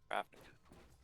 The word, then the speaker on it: Ravnica: Ravnica.